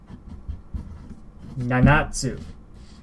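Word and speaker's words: 七つ: Nanatsu.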